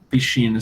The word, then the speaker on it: piscina: Piscina se escreve PSCI, como a gente escreve em português, né? Piscina. Só que eles pronunciam diferente, piscina. Porque o som do SC com I ou com E vai ser sempre sh.